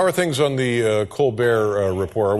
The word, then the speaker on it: Colbert: are things on The Colbert Report we're still calling it the Colbert Report or yeah we have not found the pronunciation of that T yet we don't know where